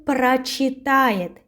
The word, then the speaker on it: прочитает: Он прочитает. He will read. Yes, про. We have this prefix про, and we pronounce прочитает with а.